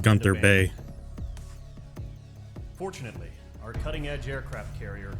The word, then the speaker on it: Gunther Bay: I've always hated how he calls it Gandar Bay when it's pronounced Gunther Bay.